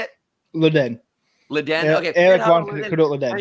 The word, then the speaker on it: Leddihn: Leddihn.